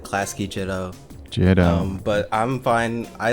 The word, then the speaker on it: Clascy Jitto: Well, I just pronounce it Clascy Jitto.